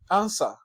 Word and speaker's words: answer: s and their realizations answer answer the W as a letter and we as a sound is absent look at where p